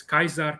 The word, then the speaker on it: Caesar: didn't speak this way they pronounced it as kaiser kikeru and i i believe